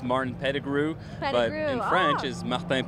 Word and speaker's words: Pettigrew: i'll never hold anybody accountable for how they pronounce my name it's martin pettigrew but in french is martin pizza it doesn't